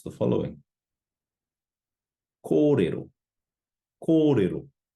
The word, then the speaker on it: kōrero: Going over a few more examples, how would you pronounce the following? Kōrero, kōrero.